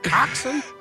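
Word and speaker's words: coxswain: SW but it's pronounced coxen uh yeah um but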